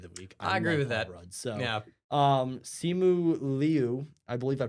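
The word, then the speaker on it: Simu Liu: I So, um, Simu Leu, I believe I pronounced it right, is sh Florence Pew, I love this character so much.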